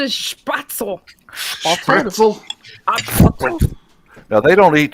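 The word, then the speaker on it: Spätzle: thank you for making spatzle i always did that by hand you got you can't say it like that you have to spatzle oh no they don't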